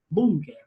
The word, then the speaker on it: búnker: Por ejemplo, búnker, proviene del alemán, búnker. Es una palabra grave. A pesar de que es extranjera, se debe tildar. ¿Por qué? Porque tú la entonación le das en boom, la sílaba boom.